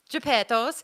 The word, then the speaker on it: Japettos: The place that we ordered pizza from last night while our power was out is place, Japettos. And you have to say it like that, by the way.